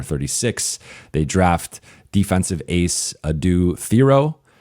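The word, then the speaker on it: Adou Thiero: They draft defensive ace Adu Theoro. And again, that is the correct way to pronounce the name as we were told by the Lakers.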